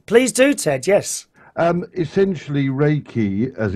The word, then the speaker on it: Reiki: Essentially, Reiki, as it's pronounced, and you got there several times, it